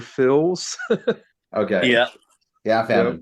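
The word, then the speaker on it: Phylzzz: wouldn't have found that so it sounds like Mr Phil's okay yeah yeah right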